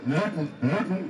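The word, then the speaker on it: Luton: Er korrigiert mich immer, weil das wird ausgesprochen L-U-T-O-N, also Lüten, das ist den hier Slang wird.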